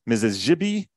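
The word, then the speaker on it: Misi-ziibi: So, the Mississippi acquired its name from the Alangquin term Mibi. Uh there's a Z sound in the original Algangquin pronunciation. Mrs. Jibi, which refers to something like a sacred river.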